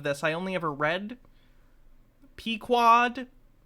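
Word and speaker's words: Pequod: I only ever read p-quad how do you how do you pronounce the name of Captain Ahab the ship never seen a movie version of it P quad correct okay the crew followed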